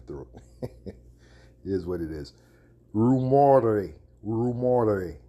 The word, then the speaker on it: rumore: show you in the Italian Italian the word rumor is pronounced rumor rumor right and it means what